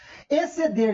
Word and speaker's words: exceder: Exceder, XC, ou língua rica, não? XC, na pronúncia, é o som do R, do S somente. Concorda? Concorda, professor? Só o som do S.